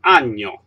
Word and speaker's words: año: We pronounce it with the sounds just like the sound of yellow in English. So this is un año, not un año.